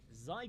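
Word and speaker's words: Xi: First up, as Flight Gun mentioned in his question, the Ci Gundam is probably the biggest outlier or the Zy Gundam as you're apparently supposed to pronounce this in English.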